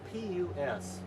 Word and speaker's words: pus: that kind of stuff, pus, that's spelled P-U-S, pus. Now when you add a second S to it and spell it P-U-S-S, you have at that point puss.